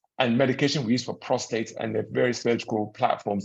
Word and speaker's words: prostate: I think it's prostrate, as a lot of them say. So what is this prostate issue?